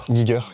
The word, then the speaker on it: Giger: Giger, que je prononce bien, t'as raison de corriger.